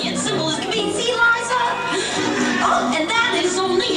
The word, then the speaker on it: Liza: It's Liza with Z, not Lisa with an S, cause Lisa with an S goes snuts.